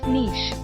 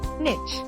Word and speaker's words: niche: Niche. Incorrect. Niche. Correct. Niche or nt. Niche. Tip: both pronunciations are acceptable, but niche is more common in British English.